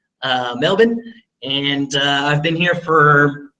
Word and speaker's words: Melbourne: here I'm in Melbourne I learned how to pronounce it correctly Melvin and I've been here for going on a